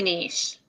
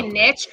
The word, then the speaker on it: niche: college educated all right it's totally niche it's really i don't i mean it's yeah yeah both are acceptable people who say niche like like people who